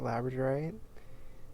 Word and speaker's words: labradorite: my favorite stones ever labradorite it's pronounced just like the dog labrador and the night and